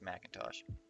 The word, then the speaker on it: McIntosh: we got Macintosh well it's spelled like Macintosh McIntosh I pronounce I assure you it's pronounced Macintosh maybe unless I'm pronouncing my friend's name wrong uh I think this